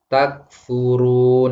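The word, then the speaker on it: تكفرون: Seharusnya bacanya takfurun, dibaca takfurun.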